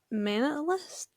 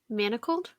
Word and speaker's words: Manacled: Um how do you pronounce the Hermione and Draco book? Manalist?